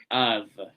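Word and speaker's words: אב: Le mot hébreu pour père est Av, prononcé Av.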